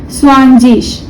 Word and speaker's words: zwanzig: स्वानजिश, ZWANZIG। अब यहाँ IG का प्रोनाउंसिएशन क्या होगा, इश होगा, ठीक है।